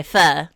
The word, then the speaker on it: pho: great hello new neighbor I come bringing Foe and Hot Pot I do like oh sorry Pho I was thinking in my head don't say it wrong and then I immediately said it wrong but I do like